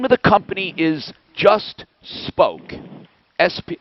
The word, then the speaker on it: Spoke: and the name of the company is just spoke sp it's how it's pronounced but is it incorporated spoke incorporated okay